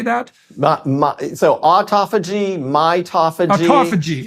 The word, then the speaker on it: mitophagy: So autophagy, mitophagy.